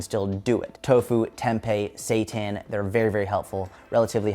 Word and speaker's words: seitan: call it seitan right it looks like C Shin to me but they pronounce it seitan there's another one tofu